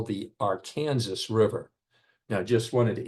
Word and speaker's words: Arkansas: you to know that we call it the Arkansas River as would be expected from the spelling.